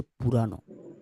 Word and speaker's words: পুরানো: 1000 বছর পুরাণ কিন্তু নয়, পুরাণ নয়। হ্যাঁ, পুরাণ ভুল করে উচ্চারণ করবে না, ওটা হচ্ছে পুরানো।